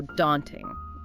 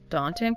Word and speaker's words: daunting: In American English, it's often a wider A sound, like in father. So, daunting. British English can be a bit rounder, more like caught, daunting, but that daunting with the A is very common stateside.